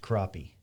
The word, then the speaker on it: crappie: crappy or crappy it's spelled crappy but it's pronounced crappie right so that's what what's what i thought we used to take crappie and we would tie him to a a